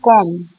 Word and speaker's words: comb: Then comes comb, जो बालों का आपका कॉम्ब होता है, जो आपका हेयर कॉम्ब होता है, उसमें B is silent.